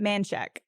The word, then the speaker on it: Manchaca: Manchac. In Texas, the street or area. In Austin. In Austin. Sorry. Manchac. It's Manchac. I would think it was Or- Menchaca. Or Manchac, Manchac.